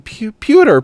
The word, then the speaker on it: Pyotr: Pyotr. Pyotr. Pyotr. Okay. I'm tired of talking about Pyotr's name and how to pronounce Pyotr. I'm calling him Peter.